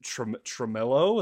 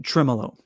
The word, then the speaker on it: tremolo: So to have that uh that you said is it tremillo? Is that how you say it? Um tremolo.